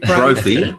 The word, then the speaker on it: Brophy: Brophy, which rhymes with trophy.